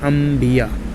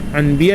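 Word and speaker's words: انبیاء: Okay, देखिए लिखा रहेगा अलिफ नून बे ये अलिफ हमजा, अम्बिया लिखा है बट इसको पढ़ेंगे अम्बिया। तो ये प्रोनाउंसिएशंस यहाँ पे जो है अम्बिया है, लेकिन यहाँ पे अनबिया लिखा है, लेकिन इसको पढ़ा जाएगा अम्बिया।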